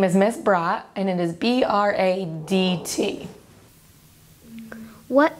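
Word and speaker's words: Bradt: media what's your name and how do you spell it my name is miss brat and it is b-r-a-d-t what is your job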